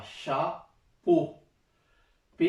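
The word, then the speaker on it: chapeau: Shah, CH Shah, போ, பே இருக்கு. இதுவும் முன்னாடியே சொன்னது தான். அதாவது இந்த ஓ உச்சரிப்பு வந்து ஆயும் ஓ தான், ஆயும் ஓ தான், ஓ உச்சரிப்பு தான் வரும்.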